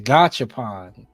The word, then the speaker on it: Gachapon: Gachapon. Is it like gotcha?